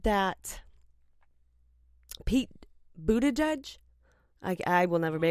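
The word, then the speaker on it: Buttigieg: and said that Pete booted Edge I I will never be a boot at Edge that I literally have to say boot at Edge yeah just just to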